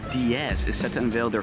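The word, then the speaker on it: Deus: Austrian startup, I believe it's pronounced DS, is set to unveil their fully electric hypercar here at the New York Auto Show.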